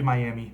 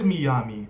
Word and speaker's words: Miyami: It might be Miami, but Miyami makes a little more sense to me because of the way it's spelled.